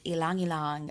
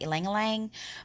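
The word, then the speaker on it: ylang-ylang: eucalyptus orange vetiver and Alang Alang I like to say it like the proper way most people here in America say ylang ylang but I have a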